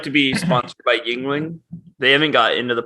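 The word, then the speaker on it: Yuengling: like i said like yingling yingling you're adding an extra syllable just yingling i feel like i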